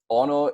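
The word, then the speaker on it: ʻono: or it's so delicious Ono is pronounced just as it's displayed here just remember that the Okemah at the beginning is gonna indicate a break in speech before you say the full word so it's gonna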